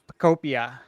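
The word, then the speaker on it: Pokopia: Okay, next we got Pokemon Pocopia. Is that enunciation correct? I think it's Pocopia. Yeah, I think it's I said Pocopia. I think it's Pocopia. Pocopia, yeah, like Utopia, like Pocopia.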